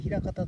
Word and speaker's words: 平方: ところがこちらです平方え枚数の前とえ方向の方と書いて平方と読みますでこちら左手の